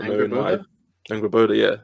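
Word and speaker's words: Angrboda: I think her name's pronounced Angrabanda. This is me not knowing my Angraboda.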